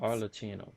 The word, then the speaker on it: Arlecchino: This That's how has you certainly pronounce been a her name. memorable series of events. Arlecchino.